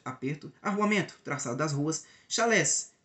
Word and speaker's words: chalé: arru traçado das ruas chalés pronúncia francês é Chalé casas rústicas marca da